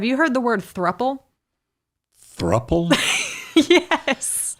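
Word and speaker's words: throuple: Throple. Yes. How would you spell that word? T H R O U P L E. Throppple. It's couple, but take off the C and put a three.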